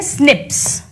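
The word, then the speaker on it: SNPs: Known as commonly इसे pronounce करते हैं स्निप्स। इसको एसए पीस नहीं बोलते। इसको स्निप्स कहते हैं।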